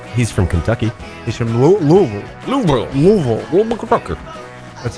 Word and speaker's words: Louisville: Louisville if you're from you say from the outside Louisville or Louisville but if you live there you say Louisville L I'm trying to